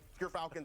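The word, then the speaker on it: Gyrfalcon's: We actually, off screen, we're figuring out how it's pronounced. But Gerfalcons, everyone, so anyone who mispronounces it, that's how you say it.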